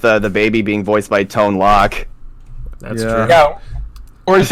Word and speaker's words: Tone Loc: I think it's Tone Loc. I'm pretty sure it's Tone Loc. Yeah, Tone Loc. The bar over it, the O would give it a long O sound.